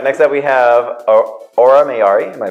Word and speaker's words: Aura Mayari: All right, next up we have Aura Mayari. Am I pronouncing that correctly? Aura. See, you're here. You're checking me. Yes. Aura Mayari.